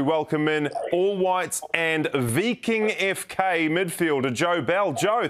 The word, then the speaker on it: Viking: to talk mate did i get that right v king fk i look at it and i see viking no you did you got it right i was i was also pronouncing it viking for a long time but uh yeah the